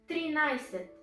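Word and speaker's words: тринадесет: i said okay thirteenth thirteenth is triniset but we write it trinadaset what means trinadesit means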